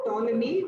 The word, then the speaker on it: Ptolemy: Recorded history, when a person called Ptolemy, spelled with a P, came all the way, Greco-Roman traveler.